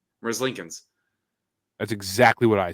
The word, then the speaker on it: Merzlikins: Merzlikins. That's exactly what I said. Yeah, I think that's exactly how it's pronounced.